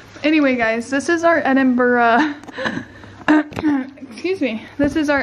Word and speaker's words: Edinburgh: is crazy it is crazy we're at the Edinburgh Castle right now we it's actually Edinburgh Edinburgh is how it's pronounced just so you know edur sorry I